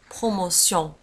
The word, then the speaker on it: promotion: ولاحظوا على أن بروموسيون في آخر الكلمة نجد تي إي أو إن إس وتنطق سيون. Promotion, des promotions.